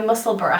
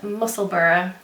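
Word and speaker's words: Musselburgh: so i finished my muscle bra hat so i am going to start by saying i i pronounced it wrong it's muscle burrow like edinburgh a viewer very kindly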